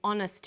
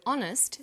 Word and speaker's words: honest: happy man but an honest man the H is not pronounced so honest sounds like it starts